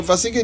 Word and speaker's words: Nvasekie: You know, Nvasekie needs to start with N. If somebody don't tell you Nvasekie, you'll find it real hard to pronounce it.